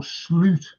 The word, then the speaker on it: Slot: are being brought in even slot or slute as is the right pronunciation of his name uh not to BU